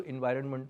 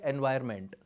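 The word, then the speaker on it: environment: जब आप डेप्थ के अंदर जाते हैं आपको कई सारी चीज़ें पता लगती है जो इन्वायरमेंट में नहीं होती। इसकी सही प्रोनाउंसिएशन होती है इन्वायरमेंट, लोग बोलते हैं एनवायरमेंट।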